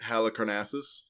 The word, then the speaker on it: Halicarnassus: Is the mausoleum, was it Halicarnassus? Yeah, that's the one. Okay. And I think you nailed the pronunciation on that one.